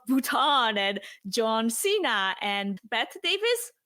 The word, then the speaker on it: Bette Davis: and John Cena and Bette Davis. Is that how you say it? Betty Davis. Betty, yeah. There you go.